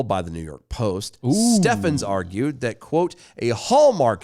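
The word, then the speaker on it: Stephens: kicking and screaming when Brett Stevens, That's Steffens. Let me Steffens. say it right. Steffens.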